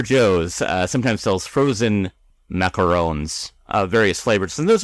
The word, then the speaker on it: macaron: s cookie like Tasha was talking about is pronounced traditionally macaron but I feel like like she did yeah